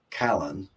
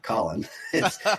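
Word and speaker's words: Callen: another interesting NPC character by the name of Callan she pronounced the voice actor is terrible on that one and she pronounces it Colin it's uh c-a-l-l-e-n um have you met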